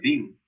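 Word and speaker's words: דין: anteriores se deriva bien de dun que se pronuncia Din siendo en ambos casos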